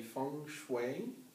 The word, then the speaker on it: Feng Shui: And you are a Feng Shui practitioner. Did I pronounce that correctly?